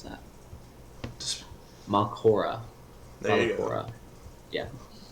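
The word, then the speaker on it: Mallorca: Mal- how do you pronounce that? Just, Malcora.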